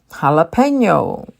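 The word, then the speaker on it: jalapeño: like a a and jalapeno is a Hispanic word the J in Hispanic language is used you pronounce as an H jalapeno tortilla this is also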